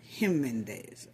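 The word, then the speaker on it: Jiménez: I know it say J, but you pronounce it Jimenez.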